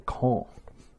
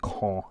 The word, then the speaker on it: Caen: I'm DJ Repents and I'm going to be playing today Close Combat Gateway to Caen. Or Caen. I think it's pronounced Caen if you're French.